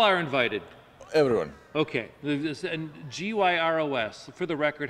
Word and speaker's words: gyros: And G-Y-R-O-S, for the record, how is that pronounced? Gyro? Gyro. Okay, I don't even order it. I don't want to mispronounce it. The proper Greek pronunciation is gyros.